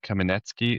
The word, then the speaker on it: Kamenetsky: We're lucky to have Kaminetzky. Is that the pronunciation of your last name, You?